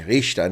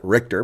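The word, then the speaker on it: Richter: came up with scalea would be the correct pronunciation Richa not RoR but hey in America we say RoR scale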